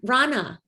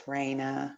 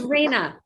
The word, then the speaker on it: Raina: all right thank you um rana if i'm pronouncing your name correctly rana or hi it's raina oh it's reina okay good yes hi